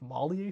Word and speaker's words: Malie: you first get there I think it's malier City pretty sure that's how you pronounce it uh rombi is really